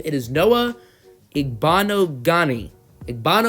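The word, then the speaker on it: Igbinoghene: okay so I have looked up how to pronounce the Auburn and cornerbacks the last name it is Noah a bond o Ghani a bond o Ghani alrighty inserted into the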